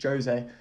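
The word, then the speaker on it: José: celso and tanganga that people get his name wrong it's not jose it's jose so i should be calling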